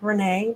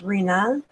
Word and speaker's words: Reena: was her middle name Renee well it would be pronounced you know in English and American version of Renee but it's Reena Michelle sub agencies give